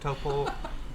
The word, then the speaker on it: Taupo: I say Taupo and Topo. You said it okay, but it sounded like you put an R at the end. It's Topol. Topo. Topo. There we go. Okay. That's good. Taupo.